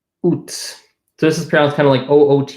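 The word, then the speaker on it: août: this is ground handling oot is how it's pronounced weirdly this breaks the pronounciation rule of not pronouncing final consonants French is also notorious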